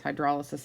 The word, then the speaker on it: hydrolysis: talk about hydrolysis right or hydrolysis but it's hydrolysis is how it's pronounced um the bond and the acid chloride